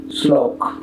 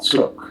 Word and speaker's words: শ্লোক: পদের আদ্য বা প্রথম বর্ণে ল ফলা যুক্ত হলে সেই বর্ণের উচ্চারণ দ্বিত্ব হয় না, তবে বর্ণটির সঙ্গে যুক্ত অবস্থায় ল ফলার উচ্চারণ হয়ে থাকে, যেমন গ্লানি, শ্লোথ, শ্লোক, ক্লান্তি, ক্লিপ, ক্লেদ, আপ্লুত।